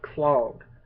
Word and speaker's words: Klogg: Um, anyways, what this game is about, it's about this evil motherfucker by the name of Clog. That's spelled Klogg, and you play the role of Clogg's twin brother, fraternal twin brother, but twin brother nonetheless.